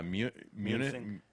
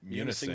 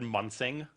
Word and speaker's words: Munising: How would you pronounce Munising maybe or something? I mean, Yeah, Munising. Munising, Michigan. but if I could look at that and think it said Munsing.